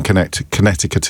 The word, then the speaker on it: Connecticut: Just to keep my inbox clear, I know that the second C in Connecticut is silent.